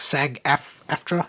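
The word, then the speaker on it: SAG-AFTRA: that was carried out under this Union contract sag f aftra is how you pronounce it however it is pronounced uh which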